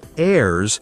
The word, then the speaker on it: heirs: And this word heirs has a silent h. So it sounds like heirs and it means family members who can receive like children or maybe other relatives.